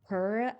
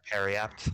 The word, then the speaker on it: periapt: The necklace, I don't know how to say this word, but it is a Peract? Hey! Periapt. Oh, Is it Periapt?